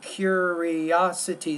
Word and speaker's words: curiosity: So curiosity, that's a 5-syllable word.